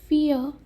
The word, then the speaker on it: fear: fear, ये are pronounce नहीं किया जाएगा, ठीक है.